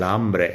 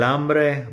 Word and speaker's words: hambre: me, but, that's el hambre. El hambre, by the way, it's because the H is silent that we're doing this.